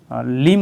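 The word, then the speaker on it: limb: বলছে সেটা কিন্তু হচ্ছে, তো এম আর বি যদি একসাথে উচ্চারণ থাকে তো সেটা বিটা কিন্তু এখানে সাইলেন্ট থাকে, ঠিক আছে তোমরা রাখবে, তো লিম উচ্চারণ করবে, লিম্প উচ্চারণ করবে না।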